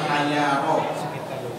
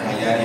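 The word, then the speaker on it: حيارى: yaitu beliau mendoakan begini, ya dalilal hayaro, bukan hayari hayaro.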